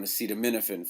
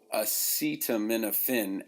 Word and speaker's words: acetaminophen: do with him so acetaminophen actually begins with what's called a schwa it's an upside down e if you look